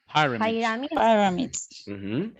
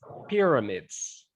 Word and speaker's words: pyramids: Pyramids. Actually, the pronunciation here is pyramids.